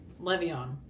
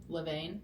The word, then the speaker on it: Levain: Le'Veon. I think that's how you say it. Levain. Levain. Levain. Oh my goodness, have I been saying it wrong this whole entire time?